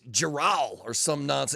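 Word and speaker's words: Jerral: Jerry Jones's real name is Geral or something like that. And everybody just calls him Jerry. Oh, J E R R A L. Geral.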